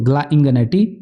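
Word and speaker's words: Gl'ingannati: तो ध्यान दीजिए कि इसे ऐसे पढ़िएगा, GL से ग्ला है, ये इंग है, ये एनेटी, तो ग्ला इंगनेटी, ये एक इटालियन नाम है, इसलिए इसका प्रोनाउंसिएशन थोड़ी क्या है, डिफिकल्ट है।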